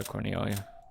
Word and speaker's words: Cornelia: Yeah, Cornelia. And, interesting. Double O. Oh, wow, it actually tells me how to pronounce it.